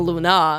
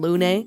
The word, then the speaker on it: Lune: Yeah, I mean, I was saying Lune pronounce it wrong. I was saying Luna, which is, that's an easier mistake to make, I think. Luna is a more common name, I think, than Lune.